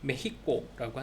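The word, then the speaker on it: México: 근데 이게 그 지역에서 그렇게 메히코라고 하기 때문에 X임에도 불구하고 메히코라고 한대요. 그러니까 메히카나 이렇게 해야겠죠.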